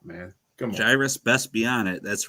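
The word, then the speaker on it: Gyruss: you pronounce that word is it gyrus or gyus gyrus gyus it's based on a gyroscope man come on gyrus best be on it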